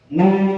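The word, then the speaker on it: نُ: Nun bersama. Ya, jadi jangan no, tapi nu ya. Nah, kalau no itu bahasa Inggris ya, no. Tapi kalau Arab bukan no, tapi nu.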